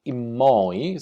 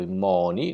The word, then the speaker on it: immoi: Immoi, andauso, questa prima volta, ecco come già accennato, immoi, scritto immoni, noi questa N la togliamo, non la pronunciamo invece quest'altra che è